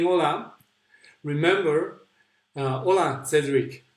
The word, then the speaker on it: hola: keep saying hola remember hola Cedric remember that we don't pronounce that H in Spanish so whatever you see this here they're going to read it as if there was no age there so you'll pronounce just